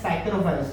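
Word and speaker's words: psychrophiles: जो bacteria ice पे पाए जाते हैं उनको हम कहते हैं साइक्रोफाइल्स. इसमें पी साइलेंट होगा, like साइकोलॉजी पी is silent.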